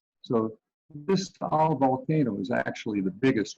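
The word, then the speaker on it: Taal: as you can see it's just spelled t-a-a-l but every time you see that here it's the two syllables so this tall volcano is actually the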